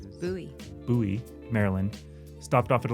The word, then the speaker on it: Bowie: It looked like Bowie, but I learned that it's not pronounced Bowie. Right. Bowie, Maryland.